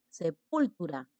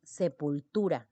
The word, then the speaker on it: sepultura: La penúltima sílaba, la palabra sepultura, mira, sepultura, porque tú no dices sepultura, tampoco dices sepultura, dices sepultura. La mayor intensidad está ubicada aquí. Esta es la sílaba tónica.